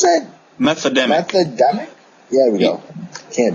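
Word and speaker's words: Methademic: Methodemic. Methodemic? Yeah, we go. Can't. Like meth and pandemic.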